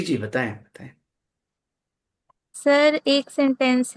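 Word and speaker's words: زیبا: रखते हैं बेटियों के, जीबा है असल में वो, उसके माने ब्यूटीफुल के होते हैं। फारसी लफ्ज है जेबा, जो कि हम लोग का प्रोनाउंसिएशन जेबा है, बट जिनकी जबान का लफ्ज है उनके यहाँ जीबा है।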